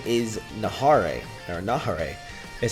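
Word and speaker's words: Neva: Shin but really his name is Nahar or Nahar is how you pronounce his name so very interesting that he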